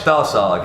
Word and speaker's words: Stahlsarg: am at BEERMAGEDDON still, and I've got Stahlsarg. Is that how pronounce it right? Yes, Stahlsarg, yes. Stahlsarg.